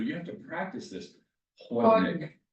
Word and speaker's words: Chłodnik: Chłodnik. Chłodnik. Which is? Chłodnik. It's spelled chłodnik.